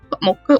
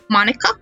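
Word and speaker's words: Monika: it sounds like you already know M Mo mocha mocha Monica Monica that's not even a Japanese name and I mispronounced it is that right that's right let's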